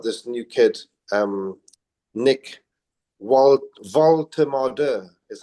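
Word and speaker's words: Woltemade: Um, so we've moved on to um got this new kid um Nick Ward is how you pronounce his name um along with Wan V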